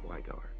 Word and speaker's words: Sweigart: Your last name is Sweigart. Is that correct? Yes, it's German. It's Pennsylvania Dutch. So you pronounce the second letter, not the first. Got you. Wow. Sweigart.